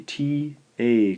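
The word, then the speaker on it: た: This first syllable is the T-A combination. We'll romanize this as ta, ta.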